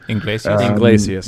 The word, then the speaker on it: Iglesias: "Hero" by Enrique Gonzalez, or ever how you pronounce that guy's name. Iglesias.